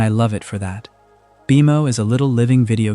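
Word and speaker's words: BMO: Beimo is written like the letters B M O but it is pronounced Beimo and it is short.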